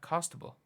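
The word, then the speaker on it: Costabile: I Mis reading that costable costable cost I've genuinely been pronouncing that like there's an n in her name I don't know why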